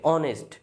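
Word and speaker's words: honest: রাখছি Rajib is এ অনেস্ট ম্যান এখানে এইচ আছে এর শুরুতে কি আছে এইচ আছে কিন্তু এখানে উচ্চারণটা কেমন হয়েছে অনেস্ট ও এর মত উচ্চারণ হয়েছে এইচ এর উচ্চারণ কিন্তু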